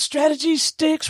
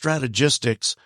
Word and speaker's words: Strategistics: So tell us about Strategy Sticks. What you out there doing, man? Well, it's pronounced strategistics, but everybody seems to want to pronounce it strategy stick.